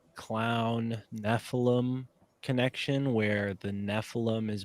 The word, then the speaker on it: Nephilim: Nephilim is the homunculus of 2024. It's going to be the word everyone has to get used to hearing, and the M is silent.